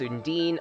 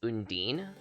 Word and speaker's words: Undine: this i feel like the pronunciation of undine seems to wildly vary in fiction sometimes it's indian other times undini other times still undyne it i have no idea what the canon pronunciation is i know in the mana series it's undine but again there's some variants